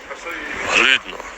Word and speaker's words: Хлідно: pronounced before in your village, you need to pronounce it something like Хлідно, Хлідно, Хлідно.